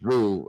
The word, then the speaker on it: Vu: Because I was a little late on that, but the View boy, Vu. I think I say it's pronounced Vu.